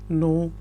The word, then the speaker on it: know: आपको ज़्यादा पता है, यू नो more, you नो more, you नो मोर। अब याद रखें यहाँ पे जो के है वो साइलेंट है, इसलिए मैं कह रहा हूँ यू नो मोर।